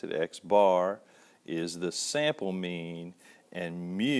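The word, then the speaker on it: x̄: In this case, x bar, and that's the way you pronounce it, x bar, is the sample mean, and mu, and this is a Greek letter mu is the population mean.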